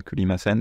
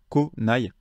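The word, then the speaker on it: 来ない: Kuru, à la forme négative, ça devient konai. Donc attention, ça s'écrit comme ceci, vous voyez, avec le kanji de ku, mais ça va se lire ko. Ça va se lire ko. Donc c'est konai.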